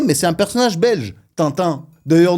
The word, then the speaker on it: Tintin: c'est un personnage belge Tintin d'ailleurs nous en Russie on le prononce tin Tine ouais on le respecte